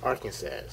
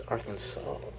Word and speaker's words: Arkansas: just reading this you didn't understand how to pronounce it you would say gas at last in Arkansas but it's Arkansas compare alien with Italian title compare and then